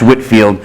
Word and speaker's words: Whitefield: guy named George Whitfield spelled Whitefield pronounced Whitfield showed up in America